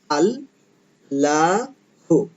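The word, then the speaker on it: الله: উচ্চারণ উচ্চারণ করবো না তাহলে উচ্চারণ না করলে শব্দটা দাঁড়াবে আল লাহু শব্দটা এভাবে উচ্চারণ হবে আল্লাহু এটাই হচ্ছে কোরআনে আল্লাহ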